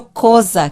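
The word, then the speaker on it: Xhosa: falados eo zulu e o coisa que a gente disse escreve xh o sr a tosca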